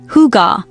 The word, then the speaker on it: hygge: The Danish concept underlying this well-being is hygge, pronounced roughly hygge, a word with no direct English translation that